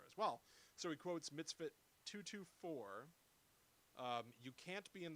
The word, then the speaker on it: mitzvah: There are only 613 mitzvahs. So your father, Mitzvahs. Yeah, I'm sorry if I'm pronouncing it wrong.